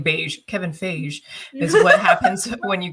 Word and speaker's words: Feige: has it is it fake how do you pronounce it is it kevin fake phage i'm pronouncing it like beige pronounce it like i'm gonna pronounce it like beige kevin feige is what happens when